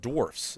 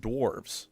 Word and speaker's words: dwarfs: While humanity, not we're saying the F, not the V.